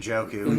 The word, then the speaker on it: Njoku: I get his name wrong, David Njoku. Njoku.